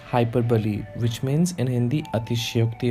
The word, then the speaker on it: hyperbole: So we pronounce this figure of speech as hyperbole, which means in Hindi अतिशयोक्ति अलंकार.